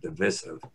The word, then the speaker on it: divisive: bit dark and divisive that's the pronunciation divisive short eye there uh and i i